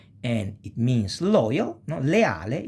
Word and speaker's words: leale: Leale is divided in syllable, and this syllabization of that is le, a, le.